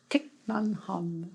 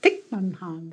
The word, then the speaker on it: Thich Nhat Hanh: Thich Nhat Hanh. Thich Nhat Hanh. Is that right? Thich Nhat Hanh.